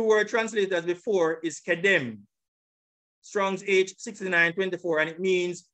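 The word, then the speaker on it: קדם: So it is kedem. This is the pronunciation.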